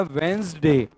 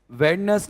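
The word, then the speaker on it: Wednesday: डी ए वाई डे वेडनेसडे इसका उच्चारण होता है वेंस डे वेडस नहीं वेंज वेंज वेंज अब आपको कोई भी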